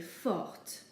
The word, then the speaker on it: forte: But if we're describing a girl, we have to add an E to the end. And now we do pronounce the T, so we say forte.